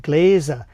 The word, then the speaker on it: Glaser: You know, the difference, but the Glasser was in German you pronounce it Glasser like drinking glasses.